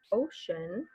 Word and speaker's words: ocean: So ocean, you do have kind of a sh sound there. That's something that we haven't really talked about, and we'll think more about that rule later. In Spanish, you do pronounce it oceano, but in English, it makes a different sound, ocean.